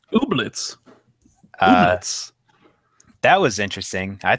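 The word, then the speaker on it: Ooblets: new indie game obletz I believe it's pronounced obletz uh that was interesting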